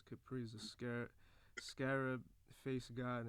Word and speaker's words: Khepri: Yeah, Capri.